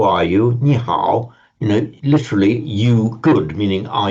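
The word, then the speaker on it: 你好: Now, if you pronounce, you would not say ni on its own. You'd say ni. It's a third tone word.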